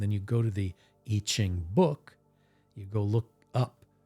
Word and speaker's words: I Ching: the I Ching but you pronounce it itching it's always a nice